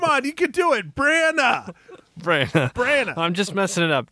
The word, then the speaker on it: Branagh: It's Kenneth Branagh. Branagh. Yeah, the G and is silent, Sir, right? Sir Kenneth Branagh. The G is silent?